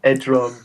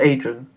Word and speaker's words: Edron: So On paper, I want it written down, Edron slash So Ed. uh, with an E or an A? E. Yeah, Edrin. Edron, I'll spell it out. Okay, Edrin. Not Adrian. Edron.